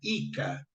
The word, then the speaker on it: JCA: trabalhar na agricultura tá esse JCA que era pronunciado como se fosse um i não J eles falavam ica JC seria ica mas falava ica colonization